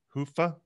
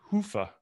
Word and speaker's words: Hyva: had seven different pronunciations i understand it's a finnish word hoofah and yeah the way i do it is i clinch my i clinch my butt cheeks and i say hoofah and it helps me